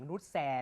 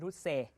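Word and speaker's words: Noussair: ส พาด แก นะ แก ไม่ ออก เสียง นุ แซ ด้วย นะ ตอน ที่ ผม เคย เคย เคย สัมภาษณ์ เ บอก ว่า นุ เซ ออ เหรอ นุ เซ มาซา อุย อุย เลย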